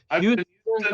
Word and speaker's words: Houston: Houston, America.